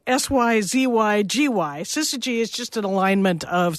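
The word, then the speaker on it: syzygy: just a big deal and so uh and that's spelled s-y-z-y-g-y sister G is just an alignment of celestial objects and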